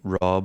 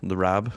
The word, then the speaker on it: Rab: I'd never really thought Rab, I do find a lot of folks from the States do call me Rob, or they can't pronounce the Rab bit.